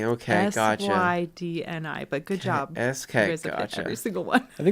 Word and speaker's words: Sydni: SYDNI. Yes. Crap! It is NI. I've taken out enough. It is NI. I thought it was NEY. Crap. No, it's not NEY. Okay, it's NI. Okay, gotcha. SYDNI.